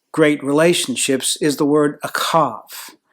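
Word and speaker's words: אהב: relationships is the word akav h is pronounced with the ch in the old ancient language of the hebrews it's a friendship it's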